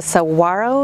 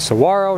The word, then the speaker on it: saguaro: the Saguaro National Forest. Located on the outskirts of Tucson, Arizona, this national park is home to a large number of saguaro and other cacti. The Saguaro National Forest, pronounced Saguaro, not Saguaro, offers over 128 miles of hiking